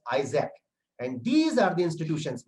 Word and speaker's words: IASC: This is IASC, the logo as it appears, and it is pronounced as ISAC.